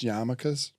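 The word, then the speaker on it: yarmulke: That that is actually just Yarmakas and it's spelled Yarmuckles, which this is a classic Chinuka incident.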